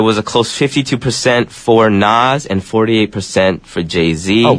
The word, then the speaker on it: Nas: they hear this song they're like uh Nas Ness they say his name wrong Nas Nas Nas Nas actually that wasn't